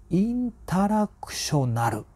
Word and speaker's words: INTERACTIONAL: また読み方難しいんですよねインタラクショナルですとはい剛君の空は